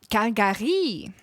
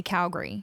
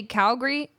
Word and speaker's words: Calgary: En anglais, you have to say Calgary. It's 2 syllables. If anybody tries to say Calgary to you in English, you definitely know they're not from there. It's Calgary. 2 syllables.